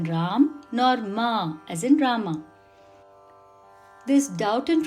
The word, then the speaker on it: Rama: The correct pronunciation in Sanskritam is Rama.